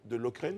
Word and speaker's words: Lokeren: Eh bien, il a été nommé donc entraîneur des gardiens de but du club belge de Lokeren, c'est comme ça qu'on prononce.